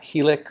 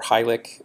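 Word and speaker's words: HILIC: a lot in popularity is he'll ik or high lick and depending on how you want to pronounce it that stands for hydrophobic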